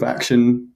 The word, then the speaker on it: Akshun: So I'm the sort of co-founder and CEO of Akshun, AKSHUN, as everybody continually makes me kind of pronounce it for them.